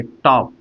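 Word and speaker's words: talk: इसमें देखिए ए के बाद एल आ गया। ए के बाद एल आ गया इसलिए एल यहां पे साइलेंट हो जाएगा और इसको हम बोलेंगे टॉक बोलेंगे।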